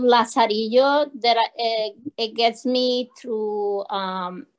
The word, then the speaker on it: Lazarillo: And it goes Lazarillo. So L-A-Z-A-R-I-L-L, like in... Yeah. And it talks. Pronounced like a Y and then O.